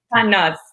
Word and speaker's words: Tannaz: And for today, I have Tannaz. Tannaz, is that right? Did I say it right? Yes, Tannaz.